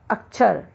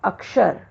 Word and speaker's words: अक्षर: जैसे अशुद्ध शब्द है अक्षर, लेकिन इसका शुद्ध है अक्षर।